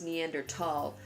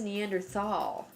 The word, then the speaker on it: Neanderthal: your lectures you use Neanderthal I've always heard it as Neanderthal is it a preference a preference and there's no H sound when it's pronounced in French and German it's something that I